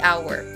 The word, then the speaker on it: hour: the ant, and the hour. Even actually in the first words, hour is H or consonant, but we pronounce it A or vowel sound.